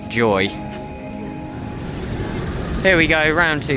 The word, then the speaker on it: YOY: I think it's actually pronounced Joy.